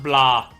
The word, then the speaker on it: Blanc: I am still gobsmacked that like Svent and and Neo said that Blanc is actually just pronounced blah.